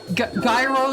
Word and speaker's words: gyro: And it's Gro. It's Gro. Gyroscope. Gyroscopic. Gyro.